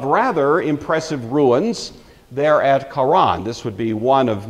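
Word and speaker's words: Haran: and it's usually pronounced Quran you've got a growly H there this was a major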